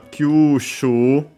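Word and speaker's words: 吸収: Then we have kyushu, another Chinese compound. This one, I think unaccented, but we'll check.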